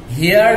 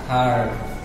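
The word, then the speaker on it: heard: আই হার্ড from you, হিয়ার্ড উচ্চারণ হবে না, হার্ড।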